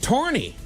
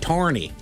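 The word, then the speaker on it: Tawrney: Tawny, t a w r n e y, tawny. Tawny? Tawny. I mean, is it tawny like a drink or something? mean? Irish? I have no idea. Massachusetts? I believe they'd say it like tawny.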